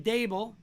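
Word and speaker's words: Daboll: week is the offensive coordinator from buffalo mr dabil is it dable is that how you say his name yeah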